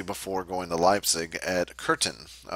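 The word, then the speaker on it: Köthen: going to Leipzig at curtain curtain is the way you pronounce that there with the funny accent on it and he worked for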